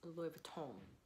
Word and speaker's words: Louis Vuitton: Louis Vuitton. Actually, the proper pronunciation to this is Loui Vuitton.